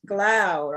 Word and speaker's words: Glaude: I think he says Glaude. I think I heard Glaude, like cloud.